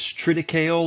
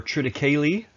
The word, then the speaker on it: triticale: the other one is tritical or triticale depending on your pronunciation which is a hybrid